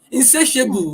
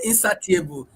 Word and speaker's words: insatiable: Then insatiable. We say insatiable. It is insatiable. Yeah. If you if you don't know how to pronounce it correctly, you will keep saying insatiable because satisfy, insatiable. So but it's you're insatiable, you know.